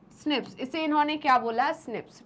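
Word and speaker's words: SNPs: show हो रहे हैं प्रोनाउंसड एज स्निप्स इसे इन्होंने क्या बोला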